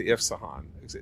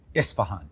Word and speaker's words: Isfahan: I will show you the way into Isfahan. Again, did I pronounce it right this time? Isfahan.